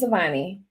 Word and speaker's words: Souvanny: I think that it's pronounced Souvanny. Is that Yes, correct? yes, Okay. Kayde Souvanny.